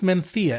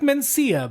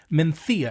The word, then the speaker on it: Mencía: And it's pronounced Mencía. It looks like Mencía, but it's pronounced Mencía.